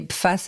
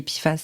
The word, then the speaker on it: PFAS: Donc on prononce PFAS, je me suis renseignée parce que je me suis dit que pendant toute ma chronique, je disais les PFAS alors que c'est les PFAS, c'était pas top.